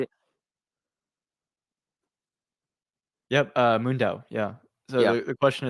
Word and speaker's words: MoonDAO: Yep, MoonDAO.